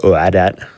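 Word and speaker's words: !oadat: really niche runs uh exclamation point o-a-d-a-t or uh oh adat as i they hear other hotfix hosts have been pronouncing it uh to learn more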